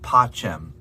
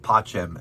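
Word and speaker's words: pacem: ah that's it um the letter c in many cases is pronounced as a cha sound like a ch specifically cheli which is heaven and pachem which is peace grammatically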